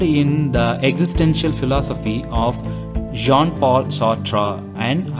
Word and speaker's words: Jean-Paul Sartre: sautra and albert cameo the names are french names so you can see the spelling but the pronunciation is entirely different the name of the first author is john paul sotra and then albert camus human